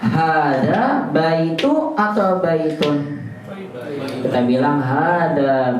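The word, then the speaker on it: بَيْتُ: Sehingga antum bacanya baitu bukan baitun.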